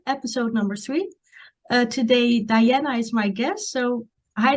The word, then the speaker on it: Dijana: um my name is Diana it's actually silent J so it's pronounced as Diana yeah um and um